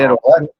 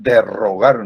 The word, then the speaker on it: derogar: Aquí es solo una R, es derogar. Algunos dicen derrogar, no. Es Derogar.